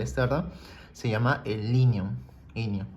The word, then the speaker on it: inion: Inion, ¿okay? Se escribe como la palabra minion, pero le quitas la m.